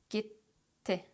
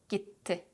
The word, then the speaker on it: gitti: Instead, we put a pause in between and we pronounce both T's very clearly. Hissetti, hissetti, bitti, bitti, gitti, gitti, kaybetti, kaybetti, yetti, yetti.